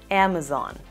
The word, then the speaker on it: Amazon: y amazon en español la letra zeta normalmente se pronuncia como una letra s pero en inglés no es así debemos pronunciarla como el sonido de una abeja y si te gustan